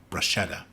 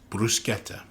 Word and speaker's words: bruschetta: The first is that Italian speakers are frustrated with the American insistence on pronouncing the word bruschetta, when in Italian it's bruschetta.